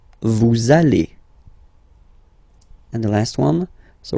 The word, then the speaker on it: allez: Same thing here. We'll have this little link between the two. Vous allez. Vous allez.